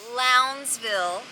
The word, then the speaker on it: Lowndesville: Billy can you please tell us how to pronounce the name of this town lville thought it was loudville me too don't know how to